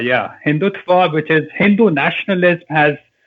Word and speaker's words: Hindutva: this Rising you say hindutva how do you pronounce this fanatical Hinduism hindutva yeah hindutva which is Hindu nationalism has taken over the